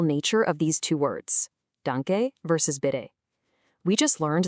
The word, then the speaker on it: Danke: Let's pronounce it cheerfully and nice and slow together. Dun- ke. Danke. I'm going to pause right